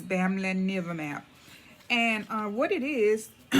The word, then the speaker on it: Bamlanivimab: call it bam bam i did do some research and i heard that some people call it bam bam but i just wanted to get a little bit familiar with the correct pronunciation of it which is family never map and uh what it